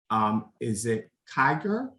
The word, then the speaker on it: Kiger: And Stephanie, I hope I'm going to make the correct pronunciation. Is it Kiger?